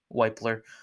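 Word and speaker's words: Wypler: We got Luke Weipler. I finally pronounced it right. We got Luke Weipler here in that pick.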